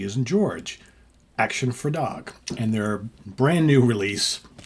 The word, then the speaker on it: Actionfredag: one is brand new the band is called action for dog and that's spelled a c t i o n action